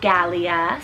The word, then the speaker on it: Galia: goddess of the sea g-name here we have galia spelt g-a-l-i-a and this one's hebrew rooted meaning